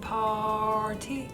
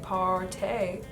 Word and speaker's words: Party: clay 12-hour blush and party is how it's built it's pee-pee rty I was pronouncing it part a but no this is party better right girls this is